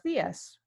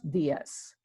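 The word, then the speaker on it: días: you could say buenos dias buenos dias you know the accent in the I hear this accent you know indicates where you would you know place the emphasis on that particular words we would say when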